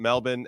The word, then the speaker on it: Melbourne: uh I get it what's funny is that you have Brisbane which is spelled with a b-a-n-e and then you have Melbourne and it's still pronounced the same Brisbane and Melbourne and you know what